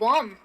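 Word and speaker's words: warm: तो वार्म, इसमें भी मैं ओ लगाती हूँ। काफी सारे वर्ड्स ऐसे हैं जिसमें ए लग रहा है लेकिन ए का मतलब ये नहीं है कि मैं उसको अ की तरह प्रोनाउंस करूँ, उसका मतलब है ओ।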